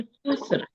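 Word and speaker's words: خسر: सिर्फ आपने खुस्र को जो है वो और तरह से प्रोनाउंस कर दिया था। इसको पढ़ेंगे इन्नल इंसाना लफी खुस्र।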